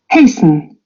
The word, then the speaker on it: hasten: Hasten. Hasten. Yeah. Hasten. They don't. They don't any longer pronounce the T. That Okay, so was, that hasten. was at one time it was pronounced, but no longer.